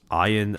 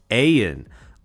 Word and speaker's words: Ayan: Since you're going to be saying it all night, can I ask you to pronounce iron as the letter A-N? Ayan.